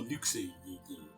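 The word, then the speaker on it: Luxord: yeah like for me it was Luxor or Lucy I met the voice actor and he pronounced it Luxor thank you oh screwed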